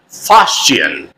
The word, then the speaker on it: fustian: Fustian is the British pronunciation, fustian. And American pronunciation of this word is fustian, fustian. So if you want to speak American English, or if you want to use the American pronunciation, you should pronounce fustian. And if you are fond of the British pronunciation, you should say fustian.